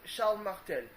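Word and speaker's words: Charles Martel: pronunciation in French because we don't pronounce the s's at the end of words but sh Martel who is the grandfather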